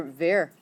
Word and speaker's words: wer: How do you conjugate it for ver? Yes. Just like ears es. Oh. Ver rhymes with air.